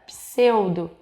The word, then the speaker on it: pseudo: Por exemplo, quando nós falamos a palavra pseudo, nós temos o encontro de duas consoantes e nós conseguimos ouvir o som dessas duas consoantes.